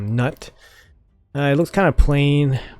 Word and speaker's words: Gnut: new Fusion dwarf called nut I think the g is silent so I'm just called nut it looks kind of